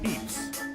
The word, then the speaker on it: Pepys: We were then joined at Ratchep by old Lady Fanshawe, as well as the grandson of Samuel Pepys. Oh, yeah, Pepys. Oh, God, that was another great fucking Vosh mispronunciation.